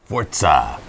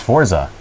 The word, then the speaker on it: Forza: Forza. It's not pronounced Forza. It's pronounced Forza. Because they said so.